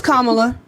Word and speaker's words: Kamala: for Donald Trump cuz Kamala is racist it's Kamala it's actually racist to not say her name